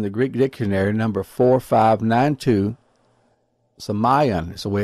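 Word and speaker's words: σημεῖον: The word wonders comes from the Greek semion, and it's in Strong's Concordance in the Greek Dictionary, number 4592, semion is the way it's pronounced, neuter of a presumed derivative of the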